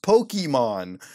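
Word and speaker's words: Pokémon: know the answer well they are called pokey man short for a pocket monster and pronounced pokemons and they have stirred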